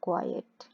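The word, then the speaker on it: quiet: तो क्वाइट जो ई टी है, इसका मतलब है खामोश रहो, बी क्वाइट, थोड़ा सा ई का साउंड आएगा यहाँ पे टी से पहले, क्वाइट।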